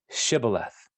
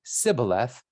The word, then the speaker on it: Shibboleth: If he replied, "No," they said, "All right, say Shibboleth." And if he said Sibboleth, because he could not pronounce the word correctly, they seized him and killed him at the fords of the Jordan.